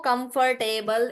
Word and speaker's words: comfortable: The stress is on comf. Comf. So stress is on the first part. So you say comf and this then table. Just like table. Comfortable. Comfortable. There is no come for. There is no for also.